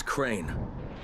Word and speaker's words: Crane: no my name is crane okay crane rhymes with train and pray and sing